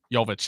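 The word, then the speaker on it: Jović: Well, remember, no Jimmy Butler, no, how do you pronounce his name? Jovic, yeah.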